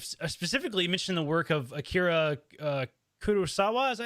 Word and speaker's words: Akira Kurosawa: life, and you've specifically mentioned the work of Akira Kurosawa. Is that how you say that? I want to make sure I'm pronouncing it correct.